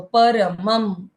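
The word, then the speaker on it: परमं: उच्चारण पूर्ण करना है और म के ऊपर जो अनुस्वार है उसका उच्चारण आधा म तो परम ऐसे हो जाता है।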